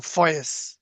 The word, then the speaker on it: ফয়েদ: যার ফলে উনিও ডাইরেক্ট ফয়েদ পেয়েছেন, ফয়েদ আল আকদাস, যেটাকে আমরা মানে দতকে জ হিসেবে উচ্চারণ করে ফয়েজ। মানে ফয়েজ ফয়েজ।